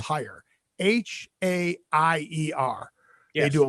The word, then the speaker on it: Haier: I believe it's pronounced Haier.